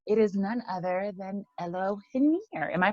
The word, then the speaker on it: Elohiniar: But Elohiniar, that's the Yes. correct pronunciation.